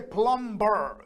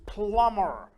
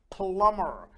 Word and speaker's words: plumber: pronunciation we don't say plumber the b is silent it's plumber plumber a plumber is a